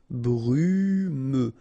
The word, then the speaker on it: brumeux: Okay, final X not pronounced, so you get this E and then U. Brumeux.